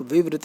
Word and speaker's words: विवृत: कहाँ गया भाई, ये निवृत्त नहीं है, आप विवृत बोलोगे।